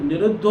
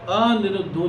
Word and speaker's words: निरुद्धो: तो निरुद्धो ही बोलना है, अनिरुद्धो नहीं बोलना, इस प्रकार से।